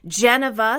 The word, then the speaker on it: Geneva: Geneva, stressing the first syllable, would be like Jennifer or Geneva.